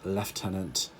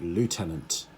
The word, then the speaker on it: lieutenant: um in British English uh we call it leftenant uh in American English uh they call it Lieutenant uh Lieutenant is kind of how it's spelled